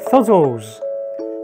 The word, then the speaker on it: Thzzls: how to pronounce it combining the words theater and puzzle okay so fuzzles fuzzles got it fuzzles